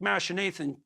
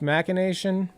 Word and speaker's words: machination: So, isn't it pronounced machination? I guess you could pronounce it machination. Okay, Katie just confirmed that you can pronounce it either way.